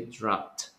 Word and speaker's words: dropped: If it is a strong sound or a soft sound, you pronounce it like T, so you say dropped.